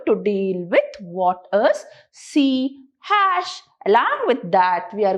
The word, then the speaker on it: C#: Now this C along with this hashtag, it is pronounced as C#.